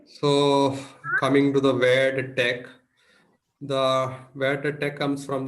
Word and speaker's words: TeX: writing latch and Tech and it should be pronounced as latch and Tech the default font used is one called computer